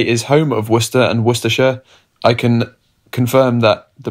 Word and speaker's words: Worcestershire: in a Bloody Mary its Worcestershire not Worcestershire Worcestershire thank you enjoy